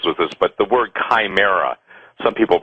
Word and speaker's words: chimera: belief system deals with this but the word chimera some people pronounce it shamera pronounce Chimera Chi m e r a obious